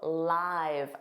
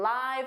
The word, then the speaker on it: live: I go live. I go live on YouTube every Tuesday. Make sure you attend my next live. We're getting some live footage now. Now, live, notice that pronunciation. Live is a verb.